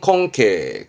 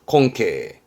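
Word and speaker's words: 根茎: 겁니다 이게 근경 뿌리 근자의 줄기 경자 근경 발음은 콩케 콩케 그러니까 뿌리줄기 뿌리 줄기 요게 괴짜라 덩어리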